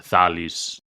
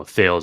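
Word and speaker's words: Thales: another good quote by thalis you know thals is how you say it in English CH yes you know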